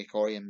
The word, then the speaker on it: Orion: lived near him in lake orion michigan or the aquarium michigan for how the place is pronounced until the taping schmitz